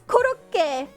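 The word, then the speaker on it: コロッケ: I also say croquette in French, but it's kuroke. Isn't it koroke? See? Even you don't know, it's koroke. It's like kuroke. That would confuse a Japanese person, I'm telling you. Just one syllable off.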